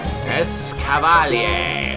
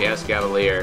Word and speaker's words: Escavalier: Actually, if it's a mix of Escargot and Cavalier, it's probably Escavalier.